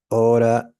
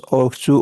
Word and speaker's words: ought to: You oughta study more. This is pronounced ought to or oughta.